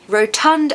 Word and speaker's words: rotund: Stress the second syllable.